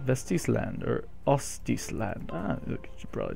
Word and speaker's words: Vestisland: think vesty land um it's not vesy land it's VES land vestis land or Otis land should